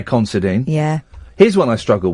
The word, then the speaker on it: Considine: Is it Patty Considine or Patty Considine?